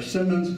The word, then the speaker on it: Siemens: would find out that seamen our Simmons is the Dutch pronunciation of Siemens now Caleb seaman will